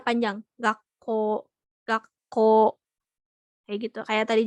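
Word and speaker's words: 学校: Nah, ini juga contoh lainnya kayak misalkan ini gakko ya. Kan ini belakangnya u, dibacanya enggak gakko. Gakko enggak dibacanya bukan seperti itu, tapi dibacanya panjang. Gakko, gakko.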